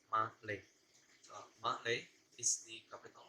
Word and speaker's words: Malé: It's uh, it's type as male, as gender male, but actually it's not pronounced male or male, but it's pronounced Malay.